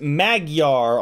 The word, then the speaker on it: Magyar: Wes W says it's pronounced Magyar. Also, those fires are slash and burn sugarcane farming.